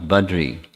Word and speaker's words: Badri: Well, Badri, we make it shorter without an extra syllable or vowel. Badari becomes Badri.